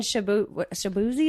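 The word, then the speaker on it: Shaboozey: I mean, you were singing Shabuzi.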